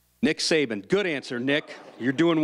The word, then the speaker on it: Saban: Rhymes with Babin. Nick Saban.